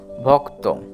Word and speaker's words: ভক্ত: কেননা ভয়ের সাথে ক উচ্চারিত হবে, ভক এবং ত, ভক্ত।